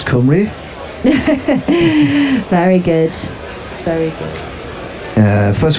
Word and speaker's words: Cymru: I mean, Wales pronounce Cymru.